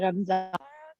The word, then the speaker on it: Ramzan: say like Ramadan Mubarak, but if you're Pakistani, you say Ramzan. And for some reason, it's like, oh, saying Ramzan is wrong and you should be saying Ramadan. But in our language, like, that's how you say it.